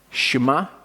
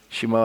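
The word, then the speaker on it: שמע: So the first part of Shema, this letter here, this Hebrew letter is a sheen. Okay, sometimes a seen as well, so it makes either an S or a sh sound.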